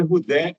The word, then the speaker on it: Rudé: George George Rudé. R U D E.